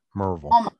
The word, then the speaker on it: Maryville: Pronounce this one for me. Marville. Marvel. You almost got it right. Marvel.